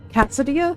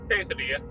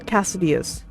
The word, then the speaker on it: quesadilla: How do you pronounce that? Cassodia? Cassodia? Quesadilla.